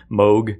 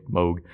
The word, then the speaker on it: Moog: One time I know, because it looks like Moog, and I saw it one time in parentheses they wrote Vogue, and that's always stuck in there. So it sounds like Vogue, Moog.